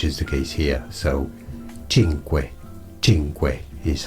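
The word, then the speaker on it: Cinque: And yes, the letter C in Italian by itself before a vowel is pronounced as ch. Well, that's before an E or an I, which is the case here. So, chinq.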